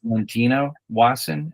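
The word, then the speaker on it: Valentina Wasson: It is Robert Wasson and his wife, Valentino Wasson.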